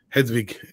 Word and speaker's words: Hedwig: And then, or I should say Hedwig, if you want me to say it correctly. Hedwig, and that's how.